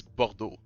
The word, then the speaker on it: Bordeaux: yeah but it's uh it's bordo it's like it's like art o wait what yeah you